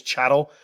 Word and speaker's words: chattel: law defines slaves as chattel if you look at chattel it's cattle with an h i know it's spelled differently but that's the easy way to remember it chattel human cattle and